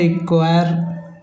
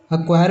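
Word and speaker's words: acquire: एक और है एक्वायर। अक्वायर में भी नहीं होता। सीधा ए के बाद क्यू का उच्चारण हो रहा है।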